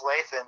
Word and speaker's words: Lathan: you pronounce her name i think it's lathan like nathan just with the nail oh yeah lathan excuse